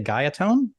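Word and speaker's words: Guyatone: I don't want to mispronounce the name, but I want to say Gaiatone.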